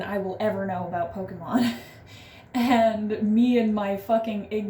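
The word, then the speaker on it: Pokémon: I was like, it's Pokemon. It's not Pokemon. And granted, he is like a super fan, like, knows way more than I will ever know about Pokemon.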